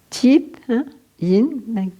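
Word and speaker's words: Tiếp Hiện: Alors en vietnamien, je ne suis pas sûre de ma prononciation, j'ai mes amis vietnamiens qui sont là, mais Thip Yin, c'est correct ou... Oui, Thip Yin, ok.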